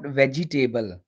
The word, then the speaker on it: vegetable: let's get started first of all the word v-e-g-e-t-a-b-l-e is not vegetable it's vegetable vegetable vegetable the stress is on